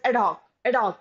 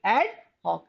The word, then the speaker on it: ad hoc: Generally, in a hurry, we pronounce it as ad hoc, but it is actually ad hoc.